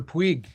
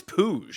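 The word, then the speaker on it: Puig: Is it Puj or Pig? I believe it's Pooj as it turns out. Pooge, but it's spelled like Yil Pig, a baseball pig. I I completely understand that. I thought it was Pig for ages.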